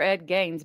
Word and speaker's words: Ed Gein: Yeah, there was a Ed Gain that we have a new modern day Ed Gain. Ed Gein, I think is how you say it.